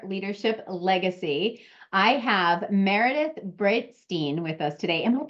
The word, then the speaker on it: Breitstein: I have Meredith Brightstein with us today. Am I pronouncing that right, Meredith? Yes, Brightstein.